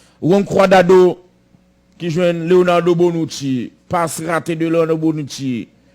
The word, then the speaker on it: Bonucci: Juan Cuadrado qui joue Leonardo Bonucci, passe raté de Leonardo Bonucci, la feinte, ballon dans l'axe pour Messi, non Messi ça pas bon.